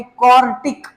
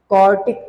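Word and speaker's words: quartic: उसका नाम होगा भाई क्वार्टिक। आई एम not saying क्वाड्रेटिक, आई am just saying क्वार्टिक।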